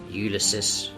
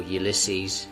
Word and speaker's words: Ulysses: James Joyce's Ulysus or Ulyses depending on your pronunciation. I think I will opt for the American Ulyses as I personally find it more appealing.